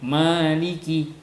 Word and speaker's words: Maliki: Bukan bacaan Imam Malik, biqiraati Malik dengan membaca Malik bil alif dengan pakai alif. Jadi ada 155 huruf beserta bismillah dan maliknya pakai alif, maliki. Jadi maliki di madin, bacanya dipanjangin ma-nya, maliki pakai alif.